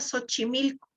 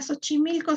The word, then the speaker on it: Xochimilco: en méxico la palabra xochimilco la palabra xochimilco se escribe con equis y se lee s h o sea se lee como